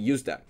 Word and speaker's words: useDApp: going to be using usedap so use that so this is pronounced as usc use and then dab decentralized app so we're going to be using usdap but i have another